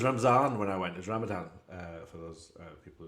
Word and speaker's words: Ramadan: so it was ramazan when I went there's Ramadan uh for those uh people who don't pronounce it correctly but it was that ramzan when I went and so I was fasting